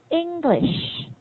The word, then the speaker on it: English: The stress when we say stress, the strongest sound is on the first syllable. So I say English. English. It's not English. It's not. There's no English. It's turning out to be 3 syllables. It's just 2 syllables.